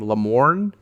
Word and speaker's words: Lamorne: Lamorne? You can read. You know It's how got, to say but it. it's got an R at Lamorne.